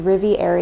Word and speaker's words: Riviere: find us at the riviera agency com and it's spelled like french riviera but with an e at the end agency com and our